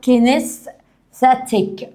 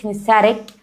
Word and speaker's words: kinesthetic: او kinesthetic ممكن اقول زي الامريكان kinesthetic، او زي البريطانيين بينطقوا التي اللي في الاخر دي بيقولوا kinesthetic. تمام.